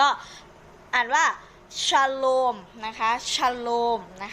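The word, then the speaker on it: שלום: พันธ สัญญา เดิม นะ คะ ก็ อ่าน ว่า ชโลม นะ คะ ชโลม นะ คะ เรา ออก เสียง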